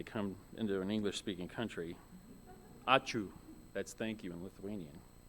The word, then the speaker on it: ačiū: Ačiū. Like when you sneeze, ačiū, ačiū. That's kind of a joke for Lithuanians when they come into an English-speaking country. Ačiū, that's thank you in Lithuanian.